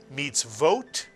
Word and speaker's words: mitzvot: And this is one of the words where the vav with a dot over it is not the vowel O, but is in fact the syllable vo. How do you know? It follows a shva. And after a shva, the vav cannot be a vowel, but must be a letter, the letter V, the vav sound.